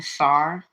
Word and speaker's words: Tsar: Russian something about Russian SAR but it's spelled like Star but mixed up TS a r Russian SAR Peter the